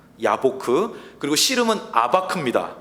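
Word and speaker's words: יבק: 야곱이 있었던 저 야복강은 히브리어로 야보크입니다. 야보크.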